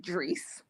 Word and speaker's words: Drees: So is it Drees? Am I pronouncing your nickname right? That's correct, Drees.